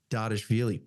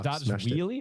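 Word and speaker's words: Dvalishvili: Dardashvili. Wow. Dardashvili? I think it's the V's are meant to sound a little bit like a W.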